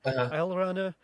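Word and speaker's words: Alraune: Sorry, I looked it up how to pronounce it because it's like a German word. Allrana, and his daughter Marlene Allrana was kind of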